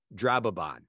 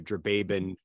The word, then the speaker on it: Drababon: being that applauds is, and I'm going to pronounce the name correctly as Mark originally wrote it and heard it in his head, was Drababon. Not sure if you heard the episode where Drababin, that was how Sean